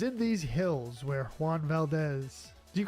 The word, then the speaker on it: Valdez: a th I mean in that particular it would be more like an S in Spanish.